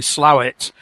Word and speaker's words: Slaithwaite: it's a place that's spelt Slaithwaite and pronounced locally Slowett, which is in the Colne Valley just west of Huddersfield.